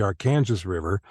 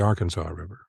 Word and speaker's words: Arkansas River: here which should be pronounced El Dorado it's pronounced El Dorado well our main our main river here is the Arkansas River not the Arkansas River well you're talking to someone from New Orleans